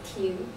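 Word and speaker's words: 亭: The pavilion in Chinese pronunciation is Ting, just the meaning is stop.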